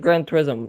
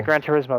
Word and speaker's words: Gran Turismo: and it's great it's Forza five I said Grand tourism there was a lot of hyperbole for them